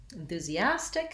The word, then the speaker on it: enthusiastic: the word enthusiasm enthusiasm enthusiastic has stress on the second last syllable enthusiasm has second syllable stress so it changes other than that the